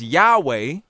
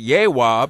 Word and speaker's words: Yahweh: And we pronounce this Yahweh. I've even gone on to an extended level and pronounced it Yehwah because the Jews call themselves Yahweh, Yehwah.